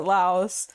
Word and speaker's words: Laos: where it's like yeah the pronunciation there is Lao and then Americans pronounce it Laos.